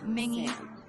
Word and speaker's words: Mingi: Mingi, Mingi, Wooyoung, and Jongho. This is how they pronounce their names.